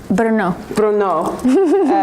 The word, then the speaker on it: Brno: She went to, pronounce that? Brno.